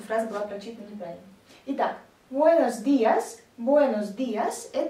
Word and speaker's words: buenos: Для того, чтобы сделать четкую разницу между о и а в данных словах, не нужно переносить туда ударение. Некоторые стараются сказать ой, получается buenos. Нет, просто после ударного э, буэ, не закрываем рот, и получится buenos.